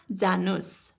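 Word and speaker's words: जानुस्: here you can see i have added s sound at the end of january whenever we give polite command or in the imperative sentence we tend to add as sound at the end of the verb so janu you can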